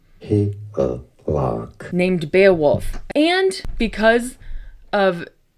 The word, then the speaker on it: Hygelac: Pronunciation, character name from Beowulf, Hygelac, Hygelac.